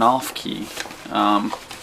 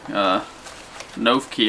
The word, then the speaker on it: Noffke: there this time maybe Sarah I've been saying her name wrong it's seirin off-key found out when I interviewed her I've been saying a note key I think was a